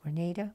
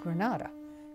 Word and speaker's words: Granada: name of the town I understand now that's pronounced Grenada but we always pronounced it Granada being from California and the following morning was